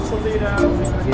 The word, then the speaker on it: Sausalito: So solito.